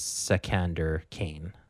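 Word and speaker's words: Iskandar Khayon: Also, just a quick thing on Iskandar Kaon's name is Sekander Kane. Is how you pronounce that.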